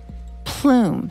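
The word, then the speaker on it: Ploom: rational future of smoking plume spelled with two o's like bloom so the name was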